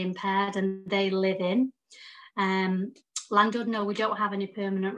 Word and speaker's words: Llandudno: We've got one in Wales, and I have to say this right because I always say it wrong, Llandudno.